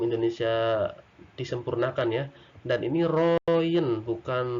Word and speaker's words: Royen: roem-royen Mengapa ini disebut dibacanya ROM karena ini ejaan lama sebelum Indonesia disempurnakan ya Dan ini Royen bukan Rogen tapi rohingya ndak perjanjian ini sebenarnya hanyalah eh